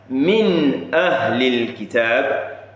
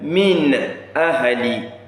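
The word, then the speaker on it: مِنْ أَهْلِ: So you heard how clearly the n sound at the end of that min was produced. So you have to produce it clearly like that. Min ahli. Watch not say min ahli. No, it's min ahli.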